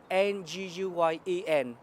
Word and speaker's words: Nguyen: is my name, D-A-N for, and my family name is N-G-U-Y-E-N, Nguyen. You pronounce like John Wayne, the quiet man, but there's no relation.